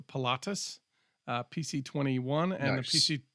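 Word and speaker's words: Pilatus: you have the uh uh I'm going to pronounce this wrong I I want to say it's Pilates but it's not it's patus uh pc21 and the PC 24 um they're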